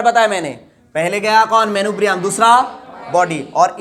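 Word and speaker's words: manubrium: अब देखो ये जो ऊपर का पोर्शन है, इसको बोलते हैं मेनुब्रियम। क्या बोलते बताओ, प्रोनाउंस करो रे बच्चों, MENUBRIUM है, 5 बार प्रोनाउंस करो रे, मेनुब्रियम।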